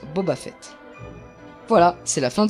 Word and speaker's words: Boba Fett: à notre dernière erreur vous connaissez booba fait houba houba fait si c'est non c'est normal car ça se prononce boba fett voilà c'est la fin